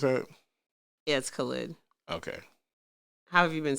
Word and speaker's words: Khaled: uz he's got Khaled is that how you pronounce it yes Khaled okay have you been saying it I don't